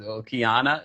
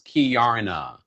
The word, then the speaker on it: Kiana: Kiana is Kiarna.